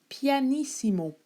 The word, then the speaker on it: pianissimo: symboles le premier symbole qu'on va voir c'est pianissimo PP donc ça s'écrit en italien P i a n i